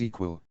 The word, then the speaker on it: EQL: of the pseudo code eql pronounced as equal and it's an acronym